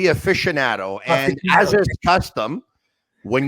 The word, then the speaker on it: aficionado: thank you very much i'm still trying to figure out how to pronounce aficionado or a fishy handle how do you pronounce that word it would be aficionado and as a custom